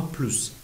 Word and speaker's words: plus: مثلا میگیم ان پلوس ان اگل دو، یک به اضافه یک میشه دو، اس تلفظ میشه.